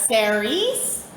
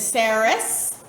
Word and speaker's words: Ceres: Some people will pronounce it Ceres as well, like fairies, Ceres. But our tradition is Ceres.